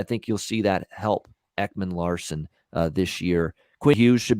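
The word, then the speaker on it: Ekman-Larsson: him they get uh as don cherry uh would always say oliver lawsom tossum uh he always butchered that name oliver ekman larson uh arizona coyotes uh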